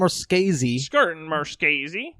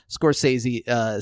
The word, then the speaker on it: Scorsese: So Martin Scorsese's Martin Scorsese.